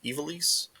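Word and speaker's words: Ivalice: Um, I might mess this up, but it's Final Fantasy Tactics, the Eve Chronicles. That's how you say it. Ease. Very weird, but looks awesome.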